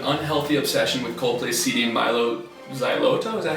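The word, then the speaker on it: Mylo Xyloto: You have an unhealthy obsession with Coldplay's CD Milo Xyloto. Is that how you pronounce that?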